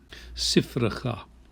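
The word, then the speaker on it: שפחה: Sifracha. So the second of these is vocal, sifracha, and the first is silent, sifracha.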